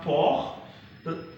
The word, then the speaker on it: port: But here the T will be pronounced because it ends with E, which is silent. So we say port.